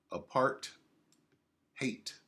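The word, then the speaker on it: apartheid: of a part time apart hate apart hate that's how they say it in South afca apart hate a policy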